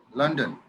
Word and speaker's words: London: লন্ডন না, লন্ডন, London. লন্ডন, London. একটু আকার আকার উচ্চারণ হয়, লন্ডন।